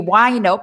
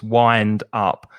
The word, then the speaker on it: wind up: And be careful of the pronunciation, because it looks like wind, but it's I, the vowel sound. So it's wind up.